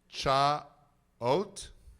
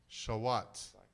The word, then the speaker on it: Chaouat: Are we going to pronounce it Cha-ot? No. Are we going to pronounce it Shaut? It was very close. Are we going to pronounce it Shavat? Shawat. Shawat. Shawat.